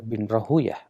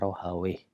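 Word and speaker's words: راهويه: Namun para ahli hadis tidak mau membacanya Rahawayh. Kenapa? Kata Imam Suyuti dalam Tadribur Rawi, bahwa Rahawayh itu nama syaitan. Ya, makanya mereka tidak mau membacanya Rahawayh, tapi Rahuyah. Kata Imam Bukhari, kunna inda Ishaq bin Rahuyah.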